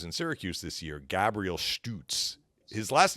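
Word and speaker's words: Szturc: this guy who's in Syracuse this year Gabriel stoots his last name does not look like it would be pronounced stuts right it's got all these like consonants in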